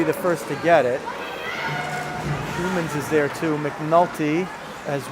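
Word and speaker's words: Shmunis: Schumans with it. Moves it up through the middle. Still with it. And has some room now. Spelled S-H-M-U-N-I-S, but pronounced Schumans, I'm told.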